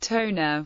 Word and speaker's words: Tonga: of central Polynesia in tongen the name is pronounced Tona and it is commonly pronounced as t or